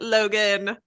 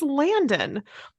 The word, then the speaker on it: Landon: was like Logan Logan over there look at Logan and Mike called said the name wrong I'm like it's Landon it's Landon you have a cue card read